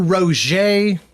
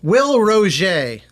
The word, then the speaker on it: Roget: Will Roget. See, now that's confusing. It's not Roget. It's French.